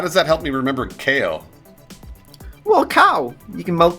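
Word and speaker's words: Kao: Also, this game's been around for 20 years, and I've been pronouncing it wrong for a very long time. KO the Kangaroo. Not Cow the Kangaroo, KO the Kangaroo.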